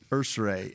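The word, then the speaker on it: Ersery: Ursary, and there's no extra syllables.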